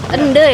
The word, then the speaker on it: Ende: Ende ya bacanya ya? Iya. E-nya pelan kita baca.